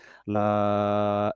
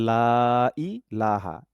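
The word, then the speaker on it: لا: তাহলে লা ইলাহা ইল্লাল্লাহু। তাহলে ইল্লেল হবে না, ইল্লাল হবে। লাই হবে না, লা টান হবে, লা তারপরে ই।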